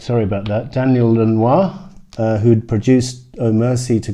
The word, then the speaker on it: Lanois: this and produced by Daniel Lanois I'm gonna pronounce his name right I've been saying llinois for the last few videos sorry about that